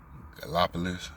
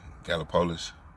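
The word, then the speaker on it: Gallipolis: ago I was in I don't know to pronounce it correctly g gallopolis gallopolis g a l l i p o l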